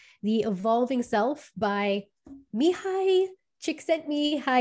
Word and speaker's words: Csikszentmihalyi: evolving self by mihai chick sent me hi i believe is the closest i'm gonna get to pronouncing this name correctly and usually we just